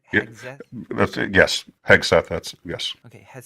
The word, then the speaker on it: Hegseth: Is that how I'm supposed to pronounce it? Yeah, Hegseth? that's it. Yes. Hegseth, that's yes.